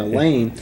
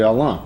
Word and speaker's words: Allain: pronounce your name because so many people here were saying Elan and I wanted to make sure I was saying or right it's it's actually Alan right Alan Alan okay